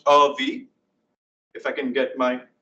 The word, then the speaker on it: Avi: My name is Avi. It's pronounced V.